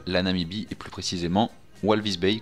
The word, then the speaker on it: Walvis Bay: Namibi et plus précisément Walvis Bay que l'on prononce Valvish Bay.